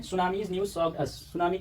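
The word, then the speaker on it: tsunami: eight सुनामी अच्छा हा सुनामी में टी साइलेंट होता है टी एस यू एन ए एम आई सुनामी और सुनामी माने सुनामी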